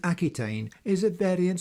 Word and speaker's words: Aquitaine: The Chet becomes a Q, which in the name Aquitaine even today is pronounced as a hard K.